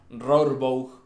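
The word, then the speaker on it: Rohrbough: Eh ahí era donde estaban Daniel, perdonen la pronunciación, Rorbow, entiendo que se dice así, eh, y Sean Graves, ambos de 15 años, chicos.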